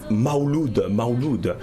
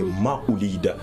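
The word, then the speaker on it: Mawlid: On entend Maouloud, mais la vraie appellation, la vraie écriture, c'est Maoulid, qui s'écrit avec la lettre M, A, W, L, I, D.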